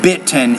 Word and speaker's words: bitten: of trouble with Batman bitten important brightening Hatrack threatened so in American English we have a glottal stop so we don't really pronounce the T when it's in the middle of those words you're saying more bat